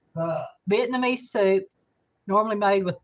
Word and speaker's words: pho: Mike says it's pronounced pho.